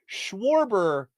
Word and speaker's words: Schwarber: Schwarber is a weird thing for me to say. I don't know why. But it literally is, war is in his name.